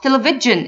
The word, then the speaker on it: television: the book virgin virgin another example I watched television at night television let's say them again virgin